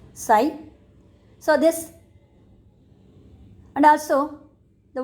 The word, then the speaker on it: psi: known as psy so the pronunciation of water potential is psi p s i the p is silent the pronunciation is psi so this and also